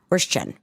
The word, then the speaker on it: Würstchen: Frankfurter Würstchen, like Wurst and then Chen. Würstchen. What would you say? I think it's probably Würstchen. I think it's a Würsten.